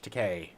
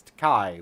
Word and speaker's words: Takei: It was like the facts about George Takei. And it was like, when people tell me or pronounce my name Takei, I tell them it's Takai. When they pronounce it Takai, I tell them it's Takei.